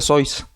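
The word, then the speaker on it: Seuss: obras más importantes primero por su origen alemán su apellido pues se pronuncia sois pero al ser de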